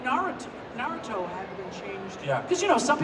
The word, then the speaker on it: Naruto: You know, I'm like, it's Naruto.